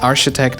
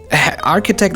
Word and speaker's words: architect: chef all right then these words are pronounced architect and haddish right that's k architect and headache why geez then how